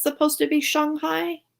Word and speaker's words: Shanghai: it's supposed to be Shanghai? It's Shanghai. Because it definitely was always Shanghai. I think that Americans call it Shanghai, but the proper way to say it is Shanghai.